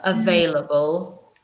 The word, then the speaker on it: available: it at home yeah it's like four syllables available that's like the animal a bulb yeah but we say it very quickly so it's four syllables but push them all together available available available so hard a bit